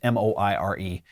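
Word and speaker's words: moiré: patterns or my fur you don't even remember how that word is pronounced mo i re soiree so I apologize in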